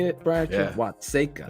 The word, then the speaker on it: Watseka: Watseka.